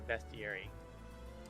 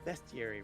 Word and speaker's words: bestiary: tying that into a bestiary. It's called bestiary, right? Not bestiary. It's spelled B-E-S-T, bestiary.